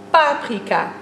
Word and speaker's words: paprika: Zit jij in team paprika of een team paprika? Het laatste is het juiste, want je zegt toch echt paprika.